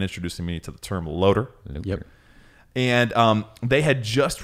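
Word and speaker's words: LOTR: ever heard and used the pronunciation of a loader for lots i was the nerd who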